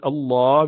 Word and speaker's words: Allah: If you have dhamma there, which is pesh or zabar, you pronounce this word Allah with full mouth.